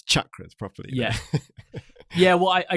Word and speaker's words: chakras: they say chakras which the original Sanskrit pronunciation like chocolate chakras they say chakras and